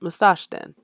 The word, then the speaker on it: Musashden: And yeah, that's also how you pronounce it, Musashden.